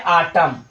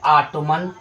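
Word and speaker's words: autumn: तो फ्रेंड्स जो सही है ना जो सही है वो है आटम। ठीक है? और जो गलत है वो है ऑटोमन।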